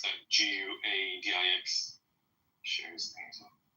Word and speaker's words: Guadix: Well, Adix Al-Andalus, I don't know how to pronounce that. Guadix. Shares things. Guadix.